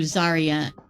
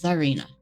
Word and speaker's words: Zarena: it perfect for for Zaria Zarina you think I would know how to pronounce my own character's name right apparently not but her name is zarena all right so we are